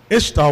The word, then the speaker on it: Ishtar: Semiramis became known as Ishtar, which is pronounced Easter, and her moon egg became known as Easter's egg.